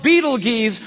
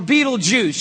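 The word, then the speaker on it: Betelgeuse: heard about this star it's called Beetle Gees or Beetle Juice you can pick your pronunciation I'm obviously going with Beetle Juice and Beetle Juice is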